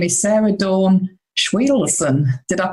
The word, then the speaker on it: Schwedelson: Her name is Sarah Dawn Schween. Did I pronounce that correctly, Sarah?